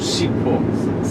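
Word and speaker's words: Sipho: Sibo. It's H, but you don't pronounce Okay. Sibo. Not with B, with H. S-I-P-H-O.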